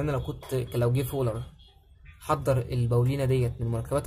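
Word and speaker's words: Wöhler: بس في واحد هدم النظرية ديت في سنة 1828 جه عالم اسمه فولر، او تنطقها فولر براحتك، يعني هي الاسم بالانجليش الاتش سايلنت، فبراحتك يعني اسمه فولر او فولر، شوف انت عايز تنطقها ازاي.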